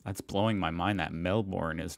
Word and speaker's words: Melbourne: for mispronouncing these cities oh you don't pronounce the r melbourne we call melvin melbourne